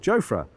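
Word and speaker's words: Jofra: year or two ago, he said it was really lovely to be there because people pronounced his name correctly. And when we asked what that was, he said Joffra.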